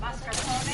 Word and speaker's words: mascarpone: This is mascarpone, pronounced mascarpone in Italian.